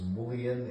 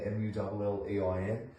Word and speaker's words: mullein: Some people call this mullein, M-U-L-L-E-I-N. I say it the way some Americans say it, mullein.